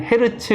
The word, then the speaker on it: 헤르츠: 10번 진동 한다는 거예요 단위는 다니는 이렇게 쓰는데 얘기했던 헤르츠 라고 읽습니다 과학자 헤르츠 의 이름을 따와서 헤드 치 라고 부릅니다 그거는 1초에 몇 번